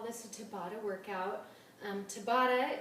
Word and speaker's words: Tabata: this a Tabata workout Tabata it looks like the name Tabitha but without the H if you're curious about